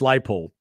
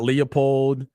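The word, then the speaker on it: Leipold: to be pronounced correctly it's Lance light pole not Leopold not Leopold I just wanted to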